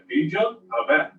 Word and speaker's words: Pidyon HaBen: Na verdade, a pronúncia correta é Pidyon Haben.